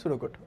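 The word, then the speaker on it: pseudocode: এটাকে হচ্ছে পি সুডোকোড লেখা হয়, পি সুডোকোড, বা এখানে বলার সময় আমরা উচ্চারণ করি হচ্ছে সুডোকোড।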